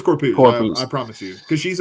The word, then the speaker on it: Corpuz: Is that how you pronounce it? Mm-hmm. It is Corpuz.